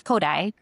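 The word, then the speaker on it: Kodály: It it looks like Kodali if you've seen it maybe written out K O D Apostrophe L Y, but in Hungarian you pronounce Kodai.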